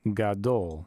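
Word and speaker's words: גדול: This symbol here is just where we're showing the accented syllable. Then we have a cholam vav and a lamed. So G, A, D, O, L, gadol.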